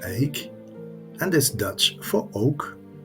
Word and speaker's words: Eyck: him the name of Van Eyck, which is pronounced Eyck and is Dutch for oak.